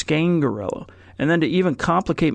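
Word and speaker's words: Scangarello: the correct pronunciation because we were all saying scan gorilla but he pronounces its Kaingaroa and then to even complicate matters more he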